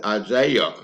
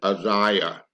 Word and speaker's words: Isaiah: 10 oh I used to think the correct pronunciation of Isaiah was Isaiah but it's not the correct pronunciation is Isaiah he was a prophet that lived about 800